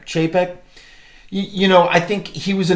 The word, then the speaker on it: Chapek: Chapek.